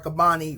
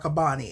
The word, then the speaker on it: Qabbani: is sort of pretending like he is Nizar Qabbani writing to his love.